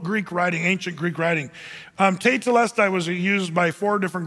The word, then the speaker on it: tetelestai: The Greek word for that is the word te telestai. You say, well, latida. Well, no, it's just one word, three syllables.